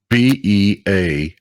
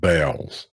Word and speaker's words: Beals: her children at beals b-e-a-l-s beals everybody here pronounces that bells i'm saying you're wrong just saying remember the